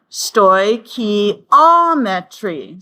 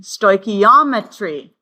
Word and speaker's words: stoichiometry: And you'll notice the pronunciation guide is given there. Stoichiometry. Stoichiometry.